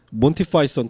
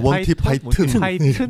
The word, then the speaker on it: 몬티 파이썬: 보통은 몬티 파이썬 또는 몬티 파이톤 또는 몬티 파이튼, 몬티 파이손 근데 원어 발음으로 몬티 파이썬이 맞는 것 같아요.